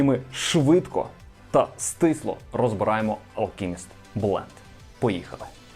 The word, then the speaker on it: Alchemist: Як його тільки не називали: Алчіміст, Алхіміс, Алшеміст, але читається правильно Alchemist blend.